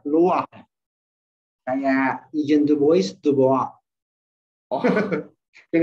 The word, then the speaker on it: Louis: Kalau Paris orang Prancis itu Louis bacanya Loire.